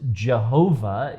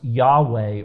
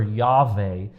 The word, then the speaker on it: Yahweh: um older Scholars thought that it should be pronounced Jehovah it has now been rejected that that was